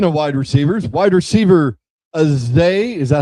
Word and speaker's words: Zay: Speaking of wide receivers, wide receiver Azay, is that how you say it?